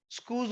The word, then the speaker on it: Schulze: स्कूज rule, SCH, spelling के ऊपर मत जाओ भाई, कभी कभी मेरी स्पेलिंग गलत भी हो जाती है और सही भी आ जाए, डजंट मैटर। SCHULZE, rule.